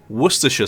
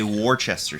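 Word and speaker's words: Worcestershire: Worersha sauce is from Worersha in England.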